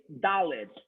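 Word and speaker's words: דלת: This letter is Daled, okay? The letter Daled. Please pronounce Daled 5 times.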